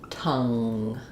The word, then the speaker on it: tongue: word like um um say the word ton and then the word tongue. Um weird spelling here. This is silent, but you're going to just make a difference between lifting in the front ton and tongue.